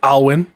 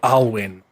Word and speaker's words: Alwin: two students um the human looking one called alwin and the elf um called RoR and then